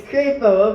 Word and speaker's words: Crapo: Okay, do not pronounce Crapo. it the other way. It's Crapo, okay.